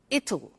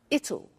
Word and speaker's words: it'll: cold you notice how it will be comes it'll it'll strange pronunciation yeah so tomorrow it will be cold